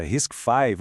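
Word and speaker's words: RISC-V: E o nome que a gente pronuncia Risk 5, ou seja, Risk 5,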